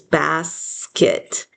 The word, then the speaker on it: basket: Basket. Go ahead and spell bass. The first syllable pass. Bass. And now we're going to spell the second syllable kit. K. It. But it's really a schwa. So it's spelled with an e. Basket.